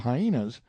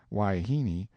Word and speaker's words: wahine: harem full of hyenas wahine most generally pronounced waihini seems to answer for wife woman and female of questionable character indifferently I never can get this man Brown to understand that hyena is not the proper pronunciation he says it ain't